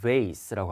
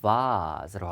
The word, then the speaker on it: vase: 미국식 발음은 vase라고 하고요. 영국식 발음은 vase라고 합니다. 이 장모음 발음하는 거 되시겠어요? 다시 한번 길게 발음하는 게 아니라 한번 꺾임이 있어요. 자 보세요. va 됐죠? vase 이렇게 읽습니다.